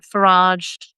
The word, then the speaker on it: Farage: Rubio and Trump and Farage Barage as I like to call him. It's going to be a a patriotic Englishman. You should pronounce it. You shouldn't pronounce it the French way.